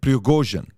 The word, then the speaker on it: Prigozhin: Number one, the guy behind Wagner Group is a guy named, I want to pronounce this correctly, Yevgeny Prigozhin. Okay, Prigozhin, that's his name, Yevgeny Prigozhin.